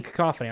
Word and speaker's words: cacophony: it written it's easy they think a demon and they go cat it's a cacophony i'm i'm have a